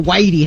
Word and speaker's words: Weide: to be at the Whitey house." Which like is Whitey's house, man. It's nice, really progressive. I'm glad Whiteys are finally opening up to the county. Which it's spelled Weide, and said Whitey, but all he kept